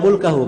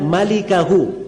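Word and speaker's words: مالكه: Itu bukan bacanya illa mulkahu. Memang mim lam kaf ha. Tapi bukan mulkahu bacanya. Bacanya illa malikahu.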